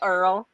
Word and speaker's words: Earle: it was pretty close it's Earl yeah like Earl New Jersey Earl Naval weapons station